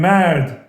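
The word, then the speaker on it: مرد: Man, mard. Man is an English word. In Persian we say mard. Mard, 2 syllables.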